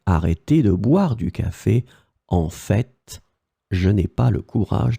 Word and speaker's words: en fait: The first one would be en fait, and then in some cases people pronounce it en fait. So they pronounce this final T here.